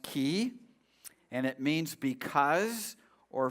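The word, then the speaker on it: כי: That Hebrew word is pronounced ki, and it means because or for.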